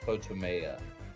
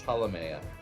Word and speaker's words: Ptolemea: I don't know why you're pronouncing it as Potomea. It's Ptolemea. Ptolemea? As in Ptolemy, the what was he?